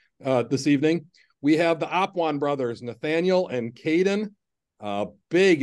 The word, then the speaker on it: Apuan: And so it's Apuan, for those of you that have heard us say the name wrong all year long on the Central YouTube channel.